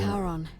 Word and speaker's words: Charon: The name you heard wasn't Karen. As big as his face. It was C-H-A-R-O-N. What the? As in, Charon, the ferryman of the dead. No. Charon, who, in exchange for